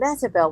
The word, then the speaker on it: Mehitabel: And Metabel, which is spelled Mehitabel.